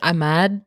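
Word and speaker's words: Imad: dude red flag Yep this is emad is that how you say it I thought it was like I'm mad I'm mad yeah I'm mad yeah you're right it depends on like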